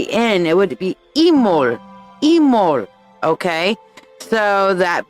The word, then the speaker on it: Imbolc: word, it would be Imol. The B is silent. So you wouldn't say Imbolc, and it wouldn't be in, it would be Imol. Imol.